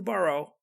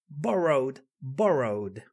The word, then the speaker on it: borrow: Now, pay attention to how I'm pronouncing borrow, row. We have to catacumbear. Tenemos que catacumbear con las R's a muerte en inglés. Borrow. Borrow. Yes?